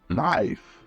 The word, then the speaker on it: knife: tricky one is live despite what it looks like we don't pronounce the k instead we pronounce it knife it's pronouned knife silent letters can be